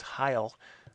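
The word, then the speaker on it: hyle: counter to the atom and that word was Heil which I believe is spelled H y le and that word sort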